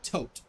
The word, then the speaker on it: Thoth: we got uh corbinx's thoth is pronounced tote h's are silent in seth